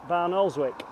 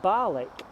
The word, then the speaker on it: Barnoldswick: Garmin to take us to barnoldswick or as the locals say balik another route but let's